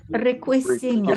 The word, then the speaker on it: riquísimo: It's going to still keep the k sound, but that C will change to a QU. El pastel es riquísimo.